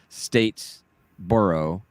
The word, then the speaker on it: Statesboro: heading down to statesboro and it's pronounced states borough like that to uh on the